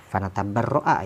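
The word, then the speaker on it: فَنَتَبَرَّأَ: Fanatabarra'a dibacanya ini.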